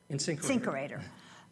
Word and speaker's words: InSinkErator: InSinkErator.